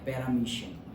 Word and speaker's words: Paramecium: thrown out in paramecium, ऐसे ही उसको pronounce किया जाता है पैरामीशियम, लेकिन स्पेलिंग मोएशियम ऐसा है, लिखने के टाइम पे याद रखो, वैसे याद रखो पैरामोएशियम, और बोलने के टाइम पैरामीशियम, लेकिन खुद अंदर याद